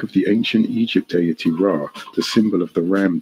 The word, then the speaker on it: Ra: the ancient Egypt deity Rah the symbol of the ram deity of the sun fertility of life and growth which is pronounced as Ray as in the ray of the Sun the reverse of the